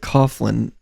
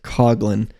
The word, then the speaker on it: Coughlin: don't actually pronounce it Coughlin I pronounce it cogin um like we don't say the H in our names and she told me